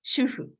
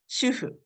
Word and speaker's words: shufu: And the main word of the book, shufu. So the book, the author uses the romanization S-H-U-F-U, but I use S-H-U-H-U here because this romanization is closer to Japanese pronunciation.